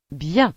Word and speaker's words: bien: Las letras I, E, N se pronuncia. bien, Por ejemplo, bien, que significa bien.